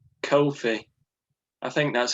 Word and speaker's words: Ko-fi: I've set up a similar thing called Ko-fi.